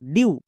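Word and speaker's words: dew: next F ই ডব্লিউ ফিউ ডি ই ডব্লিউ ডিউ এম ই ডব্লিউ মিউ সো ই ডব্লিউ এর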